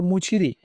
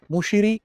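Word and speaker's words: Muziris: आगे देखें, प्राचीन दक्षिण भारत के संदर्भ में कोरकई, पुमपुहार और मुचिरी किस रूप में सुविख्यात थे। मुचिरी, मुशिरी दोनों बुलाया जाता है, प्रोनाउंसिएशन पे बहुत ज्यादा चिंतित मत होइए। प्राचीन दक्षिण भारत के संदर्भ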